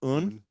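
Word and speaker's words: Aon: This is the Oon single barrel. Oon. This is the Oon single barrel. Yep. It's a single barrel. A O N. It's exactly. Yeah, it's pronounced un and it's finished in an Amaron cask.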